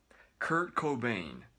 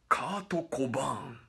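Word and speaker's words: Kurt Cobain: た人はねクコベインこれが正しい発音というか正しい読み方なんだこれを日本では何と言うかカートコバーンしけよカートコイン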